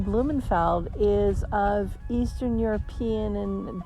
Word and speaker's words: Blumenfeld: vision of blooming flowers sometimes my last name blumenfeld is mispronounced or misspelled most frequently it's blooming b-l-o-o-m-i-n-g that people mistake when it should be b-l-u-m-e-n-f-e-l-d and also people